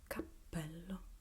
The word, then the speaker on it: capello: So we have P, like Capello. Again, a double consonant. Capello. Double P, double L. This one has the occlusive consonant, and this one has the consonant that elongates the sound. Capello.